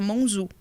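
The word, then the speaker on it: monzù: Os italianos não conseguiam falar monsieur, então falava monzu.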